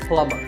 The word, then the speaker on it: plumber: be is silent so plumber in fact in many words when you have the letter combination MB the B is silent if I had a